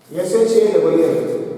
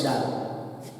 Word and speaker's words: shall: Remember, SHALL should not be pronounced as shall.